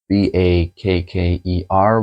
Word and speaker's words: Bakker: Scott Bakker. B A K K E R, which seems like a Dutch word pronounced as Bakker, which means baker.